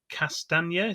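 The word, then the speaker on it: Castagne: he was joined by new signing uh timothy castaneda that's how you pronounce it who's a 24 year old belgian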